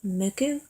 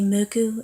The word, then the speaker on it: Mucc: got the muku shirt I been saying the name of the band wrong it's called muku uh they say muku in Japanese it's also known as the band 69 in Japan so uh but this is how it's originally spelled m u CC and I was calling